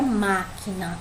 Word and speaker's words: máquina: Palavra máquina, também tem um acento, né? Tem um acento na primeira sílaba ali, má, né? Se a gente for olhar, a gente tem na, que é a última sílaba, que é a penúltima, e má é a antepenúltima, que é onde está o acento, portanto é a sílaba tônica.